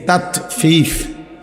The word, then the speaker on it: তাতফিফ: তাতফিফ বাংলা শব্দটা বুঝছেননি উচ্চারণটা ত আকার তা তত ফ দীর্ঘিকার ফি ফিফ এই তাতফিফ এই হল শব্দটা।